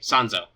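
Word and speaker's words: 三蔵: word so we'll say sons oh because that's the Japanese pronunciation of her name and when she had she talks about herself she'll use the name sans oh but you know there's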